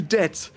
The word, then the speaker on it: debt: So let's insert a silent B into debt just to fuck over everyone.